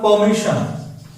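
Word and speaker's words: permission: यदि आर के बाद कंसोनेंट आएगा, आर इज नॉट प्रोनाउंस्ड, उसकी जगह तो क्या आएगा, अ. तो परमिशन, इसका क्या, परमिशन. I want to take परमिशन from here, तो इसको परमिशन बोलते हैं.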